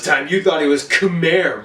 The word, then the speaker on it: Khmer: The technically correct term to refer to the Cambodian ethnicity would be Khmer. Yeah, that's right. All this time you thought it was Khmer, right?